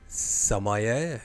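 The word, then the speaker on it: sommelier: Samay is correct. Well done. And you pronounced it seemingly correct as well, which I would not have done.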